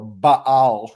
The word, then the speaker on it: Baal: of the Lord and served the Bales uh or ba'al is probably the uh the better pronunciation these are the gods